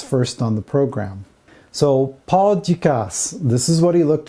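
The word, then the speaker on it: Paul Dukas: on the program so paul dicasse this is what he looked like and yes you do pronounce the s on the end of his name even though that sort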